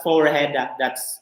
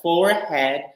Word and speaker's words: forehead: Forehead, okay, that's not forehead. It's spelled as forehead, but that's a forehead.